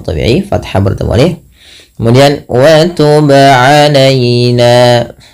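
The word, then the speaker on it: وتب علينا: Kemudian wa tub alaina, ba qalqalah, wajib memantul, tidak hanya sekedar wa tub alaina. Kalau hanya wa tub alaina maka salah dan tidak ada pantulan.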